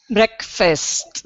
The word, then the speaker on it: breakfast: check uh breakfast breakfast breakfast yeah there's almost a little pause between the K and the F because it's a little bit hard to say KF together bre breakfast breakfast fist